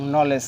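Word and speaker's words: knowledge: তাহলে এই রুলসটা আছে শব্দের শুরুতে কে এন থাকলে এখানে ন এর মতো উচ্চারিত হবে এবং কে টা কি থাকবে সাইলেন্ট মৌজ্য থাকবে দ্বিতীয় রুলস হচ্ছে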